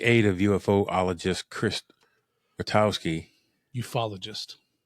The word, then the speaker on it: ufologist: Ufologist. UFOologist. Ufologist. Really? That's how they pronounce it.